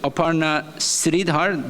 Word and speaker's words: Aparna Sridhar: Lawyer counsel from Google, Aparna Sridhar. Do I pronounce it right?